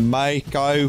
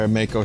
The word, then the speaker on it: mako: where 2d is singing he goes when the mai kai flies all right i'll say it when the